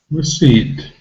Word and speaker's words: receipt: e sound but we have to associate the spelling e i with a long e sound receipt receipt and the first syllable it's really simply and there isn't really a vowel sound in this syllable but we call it the schwa sound and the schwa sound